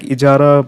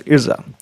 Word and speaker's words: ijara: So it is pronounced like Ijara, but some sources say as Irza.